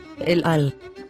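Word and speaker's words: אֶל־עַל: And if you look at the nikud signs, the silent letter aleph has the sign for pronouncing a short e, as in egg, and the silent letter ayin has a nikud sign for pronouncing a short a sound. So, we say el-al.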